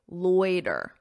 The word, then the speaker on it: loiter: Notice that pronunciation. Oi, oi, loy, loiter, loiter, loiter.